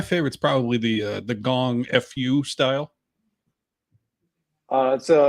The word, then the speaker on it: gongfu: probably the uh the gong Fu style uh so it's well uh yeah it's actually pronounced Kung Fu you know well yeah essentially the same word uh gongfu and Kung